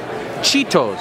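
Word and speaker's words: Chaeto: end it's called chado CH in the English language is pronounced chitos you don't say cajitos so they're CH it's Chito I want to set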